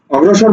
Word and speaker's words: অগ্রসর: করো প্রচুর ঘুম ধরছে অগ্রসর বুঝছো দেখো শব্দের মাঝে গর ফালা আছে সুতরাং র টা হচ্ছে ফলা যার সাথে যুক্ত আছে তার দৃত্ত করে উচ্চারণ করবে ঠিক আছে ওকে